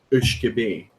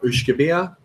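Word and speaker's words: uisge beatha: I would pronounce it Whisky Vaults, but what's the actual pronunciation of that? In Scotch whiskey Gaelic, it's Ushkebe. Ushkebe is fine, or Ushkebea are all fine.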